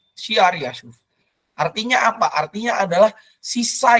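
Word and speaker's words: Shear-jashub: Yang anak yang pertama di ayat Yesaya 7 ayat 3 dikatakan namanya adalah, ini susah sekali membacanya, Shear-Yashuf. Ya. Bahasa Ibrani kurang lebih gitu bacanya. Shear-Yashuf. Shear-Yashuf.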